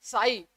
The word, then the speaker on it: psi: होता है PSI, और हम इसको पढ़ते कैसे हैं, साई, टी को साइलेंट रखते हैं, साई, आई ऑफ एक्स